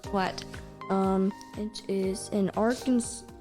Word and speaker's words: Arkansas: um one more what um which is in Arkansas our Kansas Arkansas wow what congratulations your pronunciation honk your horn three times in front